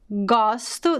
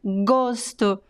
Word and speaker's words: gosto: So gosto, the verb, is open, and gosto, the noun, is closed.